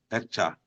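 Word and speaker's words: Heckscher: Maybe I should just spell it. It's H-E-C-K S-C-H-E-R. Escher.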